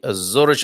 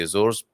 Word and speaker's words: Azores: civil protection of the Azores. I sometimes say Azores, sometimes in a very British way, the Azores, and then Azores, I think, is the better pronunciation.